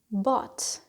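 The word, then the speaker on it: bought: present to buy becomes but to buy becomes but he don't pronounce the gh there and then we have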